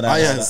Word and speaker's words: Iayze: My song of the week is this guy called, I think it's pronounced Iayz.